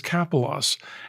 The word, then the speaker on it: Kapelos: it was um so people were having trouble pronouncing my name and I said it's capos and they said well